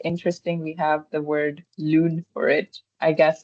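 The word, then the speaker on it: lune: Lun is moon. U is more like sound in French. So you'll every time you see U it will more it's it's more like lon um deo which is a bicycle bike.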